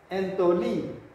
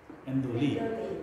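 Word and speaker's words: ἐντολή: Endoli. Tidak dibaca entoli. Ya, jadi mentang-mentang di sini ta terus dibaca entoli, tidak ya? Tapi endoli. Jadi n ketemu t dibaca, ni ketemu taf dibaca de, atau endoli.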